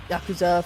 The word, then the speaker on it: Yakuza: Is that yakuza? Is that how you say it? I feel like the yah is not it.